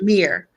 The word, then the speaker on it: Mir: If you are a prince or you are a princess, you are called Mir, like Mir Stewie, Mir Aphrodite. It means Prince Stewie, Princess Aphrodite, and it's spelled M-I-R.